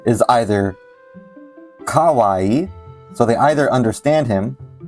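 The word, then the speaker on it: かわいい: In Japanese, it's ka-wa-ii, right? Kawaii, ka-wa-ii, right? But how would you pronounce this as a southerner, right? You would say kawaii, kawaii, right? Now, in Japanese, this is not right? If you say kawaii, that sounds weird.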